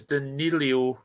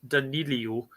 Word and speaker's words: Danilo: Where am I adding the extra O is Danilo, right? Not Danilio. Only the Scots had vowels.